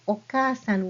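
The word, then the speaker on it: おかあさん: and when you spell okasan with Roman letters, you see this double a sound here. When you have these two vowel sounds placed next to each other, you prolong that sound.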